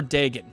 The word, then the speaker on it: Dagon: Is it Dagon or Dagon? Let us know in the comment section below. It's Dagon. They before I even asked, they were already typing that it's Dagon.